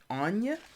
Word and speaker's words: Anya: way whatever uh wow i was pronouncing this totally wrong anya anya is the way you say this one anya all right so